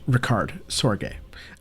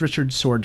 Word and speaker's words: Richard Sorge: His name is pronounced Richard Sorge. I thought it was Richard Sorge at first, but he was neither British nor American.